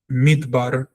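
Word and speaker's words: מדבר: after a closed syllable such as midbar which means in the desert or desert midbar. It doesn't say the letter is dal. So if we wanted to pronounce the letter as it is it would be but that would sound very wrong. So we have to shorten the r in dallet and say midbar so that the a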